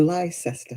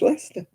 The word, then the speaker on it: Leicester: here it's not worcestershire it's like lycester when americans say it the lie cester is leicester it's like lieutenant we